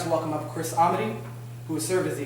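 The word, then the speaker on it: Ahmuty: I'm Chris Amity. I'm the Executive Director of the ACLU of Wisconsin. Amity is spelled A-H-M-U-T-Y.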